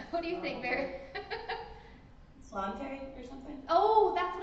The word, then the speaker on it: Sláinte: Slante or something? Oh, that's what I was thinking. Sláinte. Yeah, slante. How do you say it? Sláinte.